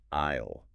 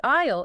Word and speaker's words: aisle: The aisle, it's that walkway, right between the seats in a church or venue. A I S L E, but you don't say the S's at all.